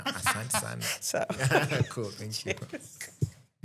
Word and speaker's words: Asante sana: Asante sana. Asante sana.